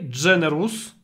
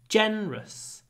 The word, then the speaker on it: generous: very generous don't say generous generous you don't need to pronounce the second syllable make it two syllables generous generous generous lots of